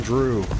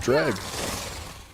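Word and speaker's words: Dreugh: how to pronounce them I've been pronouncing them wrong my entire life like I've been saying Drew my entire life Drew I've always said Drew since day one forever and ever never even question it um but apparently it's pronounced drag and I had no idea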